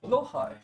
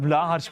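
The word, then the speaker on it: Blåhaj: How do you pronounce it, Richard? Lohai. Lohai? That is the Swedish pronunciation? It is. Lohai. Okay. Lohai. Lohai. But we call it Blahaj because it's funnier. Because I didn't know how to pronounce it correctly. No, it's Blohai, but Blahaj is just so much funnier.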